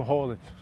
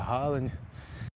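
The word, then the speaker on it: Haaland: a bola chega no Rollen, né? Aliás, eu tava vendo isso aí que essa é a pronúncia certa, né? Aqui a gente fala Hallanden, mas só que uma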